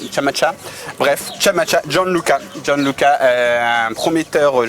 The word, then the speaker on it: Scamacca: arrivée, c'est Gianluca Chamacha, parce qu'il y a 2 C. T'es sûr que tu prononces bien? Non, je suis pas du tout sûr. Moi, je peux pas t'aider. Voilà, ça s'écrit S-C-A-M-A-2-C-A, donc c'est peut-être Cha finalement, Chamacha.